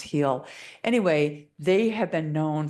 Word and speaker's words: Geel: It's called Heel. It's spelled Geel, but it's pronounced Heel.